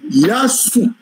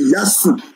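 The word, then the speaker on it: يسوع: transforme à s donc le véritable nom de Jésus là c'est yasou est-ce que vous avez compris que les les les les les chrétiens arabes prononcent ils ne disent jamais que c'est Issa ils disent c'est yasou bon si nous voulons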